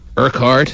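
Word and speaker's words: Urquhart: County Sergeant John Kart urkhart mhm that's how you pronounce Ur r q h a r t yeah okay uh John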